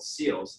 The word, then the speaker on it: CEILS: So I came up with this acronym called SEALs, and it's not SEALs like Navy SEALs, but it's spelled actually CEILS. So it's SEALs, like kind of like sealing, but obviously without the name.